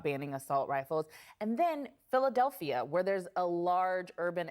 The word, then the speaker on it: Philadelphia: with what they're doing philadelphia actually has four syllables instead of five i still live there it's philadelphia are they actually is